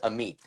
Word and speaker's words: Amit: The correct pronunciation is Amit.